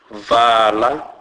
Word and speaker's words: vala: A is pronounced as a, as in a word fa. Examples: vala, vala, which means shut.